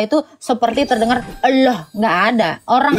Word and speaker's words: Allah: Ada perubahan suara enggak ketika membaca A L l a H? Ini coba ada. Coba baca dulu aja. Tapi sebagai orang Indonesia. Allah. Allah. Gimana? Allah. O kan bukan A kan. Allah. Anda enggak bacanya A. O.